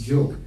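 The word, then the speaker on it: Job: spelled as j o b but it is pronounced as Joe English is a funny language and that's you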